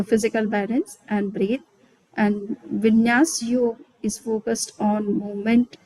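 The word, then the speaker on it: Vinyasa: So yesterday Bina ji was talking about Vinayas, but it is called Vinyas Yoga actually. Maybe some people are pronouncing like that.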